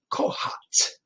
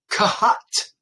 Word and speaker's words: Kohath: And Yehovah spoke to Moses and Aaron, saying, take a census of the sons of Kohat. Kahat, actually, is how you say it.